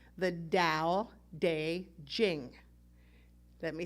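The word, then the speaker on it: Tao Te Ching: based on an ancient ancient text called the dao de jing let me say that again so you know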